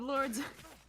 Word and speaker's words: Lorde: how it's pronounced uh so musical artist lord with an e unsurprisingly i assumed that the eu was not silent because if it were silent why not just spell